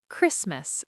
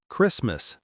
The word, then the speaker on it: Christmas: When T comes between S and another consonant, it often disappears. Christmas. C H R I S T M A S Christmas not Christmas.